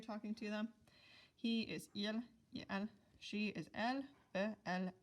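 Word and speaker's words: ils: Then the 2 versions of they, we have the masculine plural of il is il, just with a silent s at the end.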